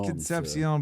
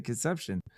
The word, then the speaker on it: Concepcion: So I think it's Concepcion, but like people keep pronouncing it Conception. Is that just white people that don't know how to say it?